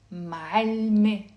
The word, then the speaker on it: معلمة: First of all, the word teacher, female teacher, is معلمة. Again, it has a silent T, which is the silent T مربوطة.